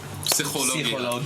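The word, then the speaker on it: פסיכולוגיה: They say psychologia. They pronounce the P as opposed to 3-second rule.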